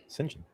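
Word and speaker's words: St John: My knowledge, that's how you pronounce that. St. John? Sinjin. St. John. How would you get Sinjin out of that?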